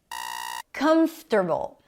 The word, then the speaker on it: comfortable: Comfortable. Comfortable. Primary stress is on the first syllable. It's not comfortable. Not comfortable. I've heard both many times. Comfortable. Comfortable. Comfortable. Primary stress on the first syllable.